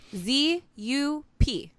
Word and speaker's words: Zup: And it's spelled Z-U-P.